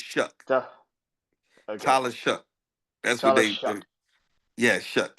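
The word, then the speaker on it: Shough: It's pronounced Shuck. You know that, right? It's Shuck. Tyler Shuck.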